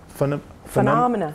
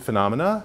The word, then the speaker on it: Funomena: Today, after That Game Company, she went to UC Santa Cruz and founded Funomena, spelled F-U-N. That's why I had trouble pronouncing it.